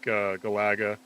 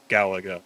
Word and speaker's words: Galaga: It felt like Galaga. Yes, I've been. That's how I pronounce it. I've always said it like that. People always get in my ass about how I pronounce that. Galaga.